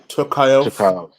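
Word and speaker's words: Tukhugov: Tukayev. Is that how you say it? Tukov. Yeah, Zubara.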